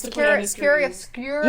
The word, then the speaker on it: chiaroscuro: Chiaroscuro. Yeah, that's actually how you say it.